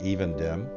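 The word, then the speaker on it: Evendim: dem or Evan dem I think I've heard of pronounced even dem by someone who's British and I trust British and overrun their pronunciations and indeed as we're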